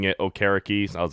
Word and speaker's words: Okereke: So I guess their biggest signing was Bobby Okereke from Indy. Okereke. Okereke. Okay. I am terrible at pronouncing names.